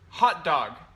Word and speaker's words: hot dog: And here, hot dog. Hot dog. Mm-hmm. Uh huh. Hot dog. Hot dog. And greenhouse. Greenhouse. Mm-hmm. Oh. Greenhouse. Greenhouse. Okay. So when you you put stress on the first syllable, yes, right?